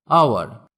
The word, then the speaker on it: hour: আওয়ার, HOUR, এখানেও এইচ এর উচ্চারণ হবে না।